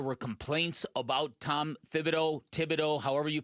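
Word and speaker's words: Thibodeau: I know that there were complaints about Tom Fibido, Tibido, however you pronounce it. It is Thibido.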